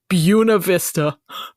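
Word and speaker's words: Buena Vista: what yeah what yes in Virginia and in Colorado they both pronounce it buav Vista oh my God horrendous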